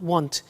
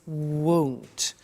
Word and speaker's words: won't: careful with the pronunciation it's not want it's won't so the example is